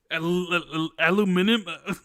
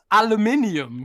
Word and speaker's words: aluminium: Aluminum sounds like a child failing to say aluminium. Aluminum.